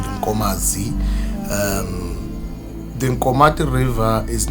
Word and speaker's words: Nkomati: The story there is uh the actual name of the river is Incomi Incomi Incomati Incomati or Incomati River. So mispronounced as Kati River.